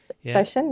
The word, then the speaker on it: shoshin: Shoshin, yeah.